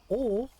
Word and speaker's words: を: Particle o, wo, is only pronounced o.